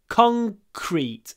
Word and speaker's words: concrete: of our tongue down concrete concrete con con concrete so it's not concrete it's concrete concrete concrete concrete you can pronounce the whole word like this concrete con concrete concrete